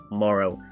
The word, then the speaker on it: Morro: the edgy ghost himself Morrow losing it on some vital scary points as his name does rhyme with tomorrow at first marrow seems like a pretty